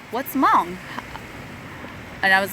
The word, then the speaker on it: Hmong: But then I tell them, well, my ethnicity is Hmong. And they're like, what's Hmong? And I was like, and they're like, oh, how do you spell that? I'm like, silent H, M-O-N-G.